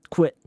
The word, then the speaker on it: quit: 쿠에 하는 거랑 그 느낌이랑 똑같아요. 똑같은데 쿠에가 아니라 quit. 오케이? 쿠엔이 아니라 quit.